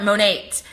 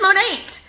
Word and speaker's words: Monat: Monique Monique we so a lot of people want to say like how do you pronounce it I for one down here in Texas I call it mo Nate it is standing for